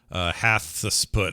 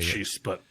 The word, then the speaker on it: Hatshepsut: So Hatshepsut or whatever you call her, how you say her name is in there. The Roman guy. Hatshepsut. Yeah, Hatshepsut.